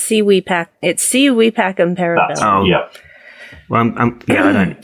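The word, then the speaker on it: Si vis pacem para bellum: Civis Pacem Parabellum. Oh, is it Parchum? Okay, cool. No, it's Civi Pacem Parabellum.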